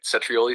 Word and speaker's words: cetrioli: The CE sounds like ch and the stress is on the first trioli. Want to try saying it back to me? Cetri, that was great. Cetrioli sounds spot on.